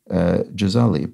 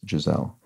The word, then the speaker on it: Gisele: 333 points out that Giselle is pronounced with a soft G her name in Portuguese is actually pronounced jezali but she says people